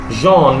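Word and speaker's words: jaune: and pretty small colors it's possible colors now Jean means yellow Jean is j-a-u-n-e okay a yellow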